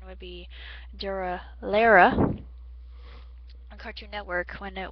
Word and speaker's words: Durarara: I had watched Durarara when it was actually, the correct pronunciation would be Durarara on Cartoon Network when it was aired, and I got the import version of it.